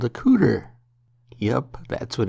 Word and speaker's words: couter: Now the small bit that protects your elbow is called a couder.